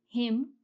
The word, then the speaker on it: hymn: In words like hymn, dam, solemn, column, the N is silent.